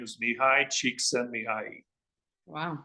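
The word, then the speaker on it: Csikszentmihalyi: principle comes from a guy that is almost unpronounceable his name his name is knee high cheek send me I.E wow me high cheek sent me and he wrote one of the most remarkable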